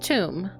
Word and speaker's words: Thoom: This one's name is Thoom. Pronounced tomb.